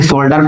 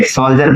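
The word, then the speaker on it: soldier: ठीक है फटा लिखिए सोल्जर तो कई विद्यार्थी सोल्डर पढ़ेंगे नहीं रे सोल्जर पढ़ते ठीक है याद रखिए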